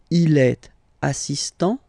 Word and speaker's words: assistant: Il est assistant. So don't pronounce the final T here.